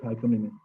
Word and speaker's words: hyponym: For example, daisy, rose are hyponym of flowers. Their subtype or subordinate and subjective is hyponymic. Adjective is hyponymic. Hyponym is concentrating on the first syllable. Its etymology comes from the Greek, and hyponym is not restricted to nouns.